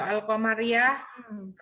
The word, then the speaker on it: al-Qamariyah: Ya, kalau al-samsiah itu alnya nggak kelihatan Bu bacanya. Kalau al-qamariyah alnya lamnya ada Bu, ketok gitu Bu.